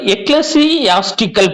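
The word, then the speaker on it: ecclesiastical: இது அதாவது இது எப்படி உச்சரிக்கணும் அப்படின்னா எக்லஸ், அதாவது எக்லசியாஸ்டிக்கல் பா, இது பேரு எக்லசியாஸ்டிக்கல். சரிங்களா? அப்படிதான் இதை உச்சரிக்கணும், எக்லசியாஸ்டிக்கல்.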